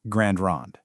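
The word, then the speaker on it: Grande Ronde: And just so you know, it's pronounced Grand Ron.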